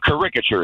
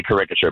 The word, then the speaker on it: caricature: And caricature is just insane. How is it insane? There are I don't It's putting the the emphasis on the second syllable versus the first.